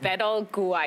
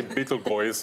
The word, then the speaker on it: Betelgeuse: because I wouldn't I'd I was like bed all gooey well some people say butyl boys or nothing I think okay